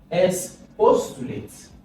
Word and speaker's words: expostulate: The stress is on this. Now there is even a rule for this. If the word ends with ate and is 4-syllabic word, the stress will be on the last syllable.